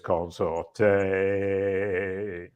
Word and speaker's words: Consorte: to say my name as long as you pronounce the E and don't call me consort we're good brilliant a quick hello and we're good to go welcome to the show consorte wonderful I will not